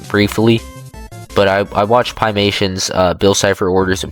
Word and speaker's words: Piemations: I think I said Pie Animations in the last video when I was talking about Five Nights at Freddy's briefly. But, I I watched Piemations uh Bill Cipher Orders a Pizza.